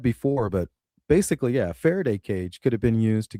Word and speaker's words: Faraday cage: Ferency cages or I think it's something like that where it blocks the signal.